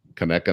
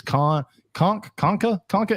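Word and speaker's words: Conecuh: and the guy goes, "How do you pronounce this? Conka?" And my whole That's time, the guy who does that on every region's food. No, this was a different guy. He just didn't know how to pronounce it. And I'm sitting there yelling at my phone, it's Kaneka, motherfucker, and it tastes good.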